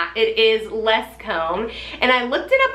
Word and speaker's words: Lescombes: and then I realized oh my gosh I pronounced it right because it looks a little interesting but it's it is less comb and I looked it up online and it